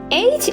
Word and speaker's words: eight: Tie it's like my eight is pronounced like night is that right is that correct no that's wrong or that's not right that's not correct it's pronounced like wait how do you spell